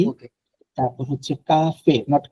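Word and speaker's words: café: হ্যাঁ, লো বেবে, লো কাফে।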